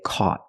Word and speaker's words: caught: the past we say caught the Au makes a sound back here a a c the GH is silent and the t is a stop T caught not caught caught